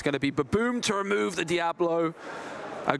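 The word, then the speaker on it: Ba-Boom!: Baboom is, of course, the correct pronunciation of that card, especially when it's taken out a big threat on your opponent's side of the board.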